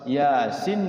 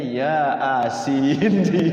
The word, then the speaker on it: Yasin: terjemahannya terjemahan barang pas Yasin di situ Yasin kan tulisannya ya a a sin bacanya Ya asin ya asin gitu karena bacanya bukan bukan bahasa Arabnya bukan tulisan Arabnya tulisan Latinnya gitu Yasin ya asin I